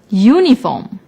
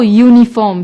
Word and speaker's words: uniform: the noun for example uniform although uniform starts with the vowel U it is not pronounced with the vowel sound so we use a